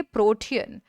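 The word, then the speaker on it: protean: pronunciation करना होता है तो ये होगा प्रो तो ठीक है आपका टी भी सही है बट जब आप ए को प्रोनाउंस नहीं करते हो तो वो गलत चीज हो जाती है तो आप इसे बोलेंगे प्रोटियन ठीक है ये क्या होगा एक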